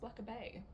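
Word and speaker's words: Blackeberg: It's like black with an E at the end and then Berg. B E R G. Spelled. It's pronounced Black Bay.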